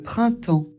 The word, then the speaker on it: printemps: Ça fait aussi en ici, on ne prononce pas le p et e s.